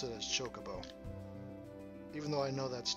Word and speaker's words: Chocobo: It's supposed to be Chocobo, but I've always pronounced it Chocobo, with an emphasis on the middle syllable.